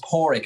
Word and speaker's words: Padraic: But it's Padraic. I always say a dog's paw and a rickshaw. So Padraic is the best way to say it.